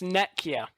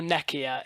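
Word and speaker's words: Nekyia: to call it the fancy name um it's nekia so um or neia is fine it's means H it's a Greek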